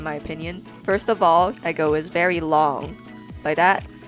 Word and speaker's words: Ego: And before a lot of you go again in the comments and say, oh no, it's Ego, dude. It's E-G-O. No, it's Eggo-sama. Eggo. That's how you pronounce it in Japanese, and that's how I'll pronounce it here.